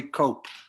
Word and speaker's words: Cope: want to point out the cope rhymes with hope so we're here to